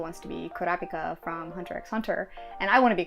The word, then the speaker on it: Hunter x Hunter: to be Kurapika from Hunter x Hunter, and I want to be Kurapika, and do we're you both. pronounce the X? You're not supposed to.